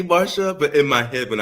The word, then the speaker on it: Marcia: mistress um and um Marsha Marsha Marsha why does she spell her name Marcia yeah Marcia m-a-r-s-h-a and so right people see that c and they think it's a hard C but sometimes I do